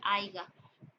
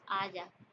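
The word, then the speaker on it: haya: suele ser muy frecuente aiga en realidad la palabra es aya expectante no es expectante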